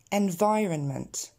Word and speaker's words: environment: A society, 100%, totally, environment. Celui-là, il est très très souvent saccagé. J'entends beaucoup environnement ou environment, donc on le reprend encore une fois.